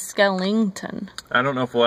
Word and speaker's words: Skellington: never say his name you know what it's Jack Skellington the Pumpkin King it's the real okay it's like a take on the word skeleton but instead of saying skeleton he says Skellington I don't know if